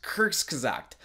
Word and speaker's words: Kurzgesagt: okay in all honesty I'm pretty sure it's pronounced Kurtz cuz act don't roast me too hard for that pronunciation anyway the video topic